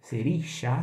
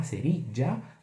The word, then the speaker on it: cerilla: Bom, fósforo em espanhol, a gente vai falar seria. La seria. Claro que você pode ter pronúncia diferente, depende da região. Serixá, serija, tá?